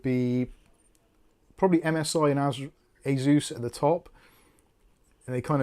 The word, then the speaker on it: Asus: Well, it's cuz it's Well, they made the company and they they said that it's pronounced Asus as in a and then the god Zeus.